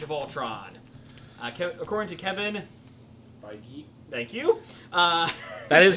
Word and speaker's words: Feige: Kevin Feige. Okay. Feige. Feige? No, Feige, Kevin Feige. Well, until he comes Really? on the show, we're going to Listen. mispronounce it. Feige and I are personal friends. He Sorry, says sorry. It's Kevin Feige.